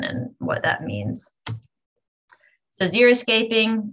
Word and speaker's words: xeriscaping: what that means so xeriscaping which i've already said it but pronounced zero escaping uh it was coined